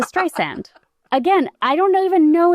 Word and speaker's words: Streisand: Apparently Siri originally pronounced her name as Stysand. and she called Tim Cook and made him change it to Stray Sand.